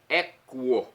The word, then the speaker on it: equo: Não é eco não, hein? Equo. Vem de animal equino, ok?